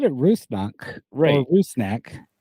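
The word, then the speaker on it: Rusnák: it they just say rusnack they don't kind of have that you know Eastern European vibe to it but uh I don't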